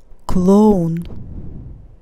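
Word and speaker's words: клон: it as a clone clone here it's stressed i pronounce it as o la beast leader leader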